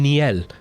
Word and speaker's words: Neil: name but he's like hi I'm Niel I was like holy crap your name is Niel even though I read it as Neil because his name was Neil but he he in